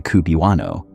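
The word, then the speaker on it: cubewano: The pronunciation of QB1 eventually morphed into Kubuano and the name attached itself to the entire population.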